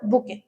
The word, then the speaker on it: bouquet: बुके। आए समझ?